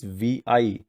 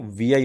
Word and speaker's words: Vi: Idea now integrated new brand identity, that is VI. So in the mobile network, if you have Vodafone network, then you can say that on the upper left corner you will see now VI logo, that is the Vodafone Idea.